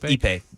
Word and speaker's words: Ippei: Yep, Ippei.